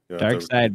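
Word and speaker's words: Darkseid: the planet apocalypse I know all right Dark Side baby you have to keep buzzing in yeah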